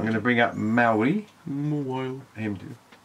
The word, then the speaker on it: Mawile: Mawile. And I'm going to put. Imagine there's a H between the I and the W and then pronounce it like that. Mawile.